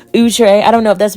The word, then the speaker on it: Outre: all the current wigs from outre excuse me utre I forgot it's we've been pronouncing it wrong all these years utre I don't know if